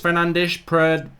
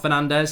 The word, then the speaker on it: Fernandes: Hey Mark, did you know it's actually pronounced Fernandes? Portuguese, not Fernandez, says Kush.